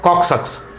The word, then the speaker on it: coccyx: the vertebral column here how to pronounce this co double c YX called coccyx sucks sucks small triangular bone at